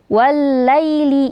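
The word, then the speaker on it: والليل: Lalu wallaili idza yaghsyaha. Wallaili, alif lam syamsiyah bertemu dengan huruf lam.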